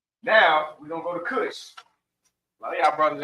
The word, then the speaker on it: Cush: So Kush with a C, not with a K. This is Kush. This is the real Kush, not the Kush I smoking up. Right. Kush. It's almost spelled like cushion. But the beginning of Kush.